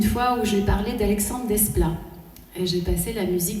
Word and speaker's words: Desplat: retenez bien ce nom Alexandre Desplat il faut prononcer le S c'est le futur Michel